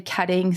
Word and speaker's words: Koetting: pronounced multiple different ways some people say ketting some people say coing but most pronounce it coing so I'm going to